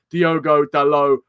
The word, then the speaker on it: Diogo Dalot: you guys don't like that but I'm gonna pronounce it as do godello from now on and also if you guys